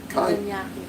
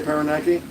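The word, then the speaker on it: Parañaque: Mugs is Organic, I live in Paranque now and Paranaque. Huh? Paranaque. Didn't I say Paranaki? Oh, I think I left the syllable off.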